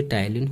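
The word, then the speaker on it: ptyalin: जिसमें पहली होती है टाइलिन और दूसरी होती है लाइसोजाइम। अब टाइलिन देखो PTAYLIN होता है। अब यहाँ पे P आपका साइलेंट होता है, तो बच्चों कंफ्यूज मत होना, टाइलिन की स्पेलिंग ये होती है।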